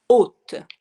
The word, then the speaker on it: hôte: H O with the little circumflex accent circumflex and T E haute.